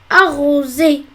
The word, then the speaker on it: arroser: On veut prononcer Z et il y a deux voyelles, donc on va écrire un seul S. Arroser.